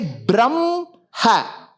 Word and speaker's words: Brahma: You say brahm, ha. The ma sound should precede the ha sound.